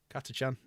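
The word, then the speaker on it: Catachan: Uh, a lot of the um the jungle fighters um Katchans, Katchan, that's how you pronounce it. Katachan.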